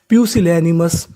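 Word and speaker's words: pusillanimous: और आगे लिखा है एम ओ यू एस उसे पढ़ेंगे मस। तो पूरी मीनिंग क्या बन गई? प्यूसिलेमस प्यूसिलेनिमस प्यूसिलेनिमस प्यूसिलनिमस।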